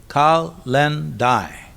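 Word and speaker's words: Kalendae: The word calendar itself comes from calendar day pronounced kal len dai which was the day when debts were due.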